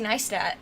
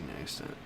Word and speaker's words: Neistat: Yeah, I told you his first episode was with Casey Neistat, which another one of my favorite YouTubers.